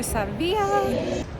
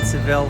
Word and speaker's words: Sevilla: welcome to sevilla i was saying seville for the longest time and then i'm like it's probably pronounced differently and sure enough it is so we're here in